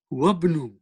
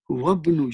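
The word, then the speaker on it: وابن: So you will say, wabnu. What will you say? Wabnu. You will not pronounce this Hamzatul Wasl. Va will go straight into ba. Wabnu. As if it is not there.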